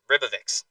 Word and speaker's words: Ribovics: Ribovics. That's how we pronounce that word.